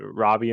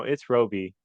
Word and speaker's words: Roby: I wasn't sure I I think I kept pronouncing it Robbie in my head and I was like no it's Roby yeah no it's Roby yeah yeah cool yeah